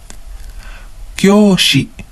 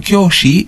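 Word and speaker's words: 教師: Kyoushi. Kyoushi. Again, another long vowel. Kyo. Kyoushi. So, the difference between sensei and kyoushi is that sensei is only referring to another teacher.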